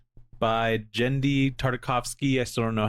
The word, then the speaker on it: Genndy: It's not a Gen situation. Gendy, I guess it could be.